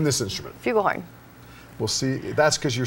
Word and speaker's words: flugelhorn: Well, no, it's a flugelhorn, actually. And what did I say? Well, you said fugel, but it's fine.